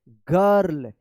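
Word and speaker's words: girl: आई के बाद अगर आर रहता है किसी भी वर्ड्स में तो आई का क्या उच्चारण होगा? हां, सही बोला आपने। आई का अ उच्चारण होगा। क्या पढ़ेंगे इसको? बर्ड। इसको क्या पढ़ेंगे? गर्ल। इसको क्या पढ़ेंगे?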